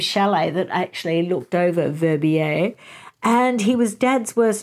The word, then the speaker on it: Verbier: And then after that, she mentions going to Verbier. I looked up the pronunciation of that, Verbier in the Swiss Alps.